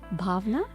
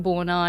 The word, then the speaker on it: Bhawna: People call me so many different ways, like Bona and Bhavna. And like in Australia, nobody can pronounce my name properly. So I have to actually break it down and say, just call me. Just think about.